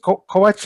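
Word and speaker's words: Kovač: Who is Matia Is it Kovac? How do you pronounce it?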